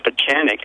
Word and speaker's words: Pieczenik: or what I am it's already difficult to pronounce my last name for chanic and by the way that's been my secret